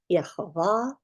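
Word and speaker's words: Yehovah: Oriental 4445 um and with those vowel pointings the pronunciation would be yahovah so that is the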